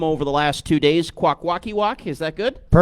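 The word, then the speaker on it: Kwakwaka'wakw: Okay, I'm going to try out my pronunciations here because I've been practicing them over the last two days. Quackwalkiwok.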